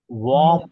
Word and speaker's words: warm: नहीं, वो WARM है ना, उसमें एक्चुअली वॉर्म होता है।